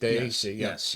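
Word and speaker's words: Dei: wine that's on the it's day d e i i day pronounced day so for the same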